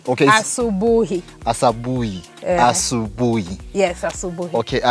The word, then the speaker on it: asubuhi: Asabuhi. Okay. Asubuhi.